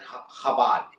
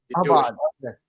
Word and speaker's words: Chabad: Well, it's Shabbat, but they pronounce it Chabad. Chabad.